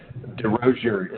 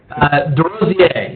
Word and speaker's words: DeRozier: your last name, but DeRozier is how it's pronounced in the United States. That's not the French pronunciation, correct? That's right, yes. Well done. Give us the French pronunciation real quick. DeRozier, yes.